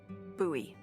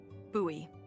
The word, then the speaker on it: Bowie: no warning, he pulls out this huge rusty Bowie knife. It's actually pronounced Buoie. What? No, it's like the last name like David Bowie. Different last name. Buoy.